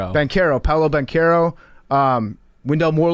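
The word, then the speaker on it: Banchero: Bachero. Banero. Banero.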